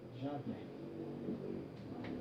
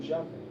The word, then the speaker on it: Javé: em algumas tradições religiosas, eles chamam assim. pronunciam assim. Yahvé. Eles pronunciam assim. E a versão Vulgata, nos passa esse nome. Javé. A versão Vulgata está nos passando Javé. Eu posso, então, eu tenho